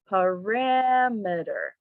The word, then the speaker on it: parameter: the primary stressed syllable so parameter is the correct word stress the second step to